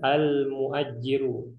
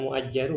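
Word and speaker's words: المؤجِّر: Sedangkan ini al-muajjiru, bukan muajjaru ya. Al-muajjiru. Al-mustajiru artinya orang yang menyewa.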